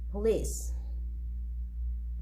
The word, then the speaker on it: police: the words are stressed in the second syllable garage police page 12 exercise 10